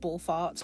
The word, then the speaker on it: Ball F4RT: I am aware it should probably be pronounced Ball Farts, but I don't really want to pronounce it like that.